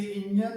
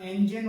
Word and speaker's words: engine: इसे इंजन बोलते हैं, इंजन। इंजन जो कि गलत है, इसका सही प्रोनाउंसिएशन इंजन होता है, इंजन, इंजन।